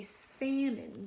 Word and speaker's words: salmon: funny-looking word right because we don't say Stallman like it's spelled s al M om right we say salmon but Ellis kind of silent right so we got